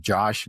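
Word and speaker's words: जोश: know jo is it's it's spelled like Josh J O but it's called in Hindi it's called jo which is that kind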